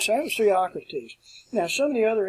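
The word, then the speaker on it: Theocritus: If we start up at the top here, Theocrates is the way it's pronounced. It looks like it would be Theocratus.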